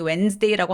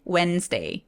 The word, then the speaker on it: Wednesday: 수요일은 워낙에 우리가 많이 Wednesday라고 하니까 중간에 있는 E를 없애버리고 소리 많이 내죠. 그리고 D도 묵음 처리가 되기 때문에 Wednesday, Wednesday, Wednesday라고 이미 잘 소리 내고 계실 거예요.